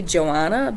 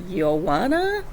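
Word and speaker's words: Joana: mission uh and then there's we would say Joanna but it's pronounced yoana uh I believe uh she's of Lithuanian descent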